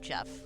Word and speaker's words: Geoff: If you know a fellow whose name is spelled Geoff, and he says it's pronounced Jeff, he is right.